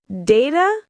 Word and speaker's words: data: Data, 2 ways. Data or data. Email.